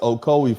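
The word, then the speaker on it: Ocoee: Um okoi uh thank you so oki. Thank you so much fam. Oko, it's pronounced Okcoi, Florida.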